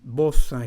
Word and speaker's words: beau: virtue sportive and in both case the word the noun is feminine the adjective ending in o the pronunciation of these three letters e a u is o like the letter o for example bo bo